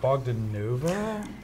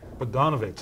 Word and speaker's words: Bogdanovich: Was it Bogdanova? Is that how you say it? Bogdanovich, okay.